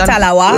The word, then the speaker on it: talawa: Because Jamaicans, they have this saying, "Little but we talawa." Yes. Did I say it right? Definitely, little but we talawa.